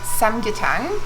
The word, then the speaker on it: 삼계탕: And today we're going to be having samgyetang. Did I pronounce that right?